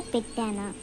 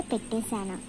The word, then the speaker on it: పెట్టానా: So actually we say pettana. Some people say pettesana, but in actual word pettana.